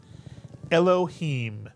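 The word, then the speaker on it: אֱלֹהִים: So it's a two-syllable word. The first syllable is elo, mitsuyan. The second syllable, him, mitsuyan. Put the word together. Elohim, Mitsuyan.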